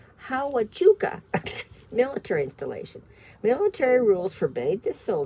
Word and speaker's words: Huachuca: Oh, I have a hard time pronouncing this one's name. Huachuca, Hawachuca military installation.